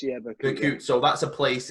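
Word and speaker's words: Berkut: Bakut, is that how you pronounce it? Bakut, yeah, Bakut.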